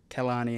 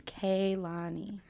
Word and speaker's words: Kehlani: personal to me but you guys all mispronounce my name it's kayani every we clearly to